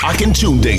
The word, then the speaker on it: Akintunde: The Akintunde Show.